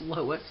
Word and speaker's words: loess: It's spelled l o e s s, but it's pronounced loess.